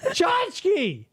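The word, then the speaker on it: tchotchke: Chachki, it starts with a T. It sounds like it starts with a ch.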